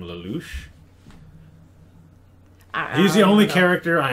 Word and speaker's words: Lelouch: But I think you pronounce it Lelouch, something like that.